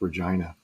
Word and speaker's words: Regina: grew up in canada the name regina is pronounced regina which is actually where i was born and